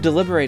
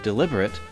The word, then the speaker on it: deliberate: The word deliberate is a tricky one. If you pronounce it slightly differently, deliberate, it means intentional, which is completely different from the meaning deliberate, which means to consider something carefully.